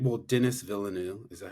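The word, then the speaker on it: Denis Villeneuve: Um, I'm gonna butcher their name. Well, Dennis Villeneuve, is that how you pronounce his Mm-hmm.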